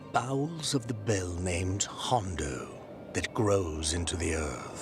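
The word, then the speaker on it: Jondo: In the bowels of the bell named Hondo that grows into the earth. The J is silent.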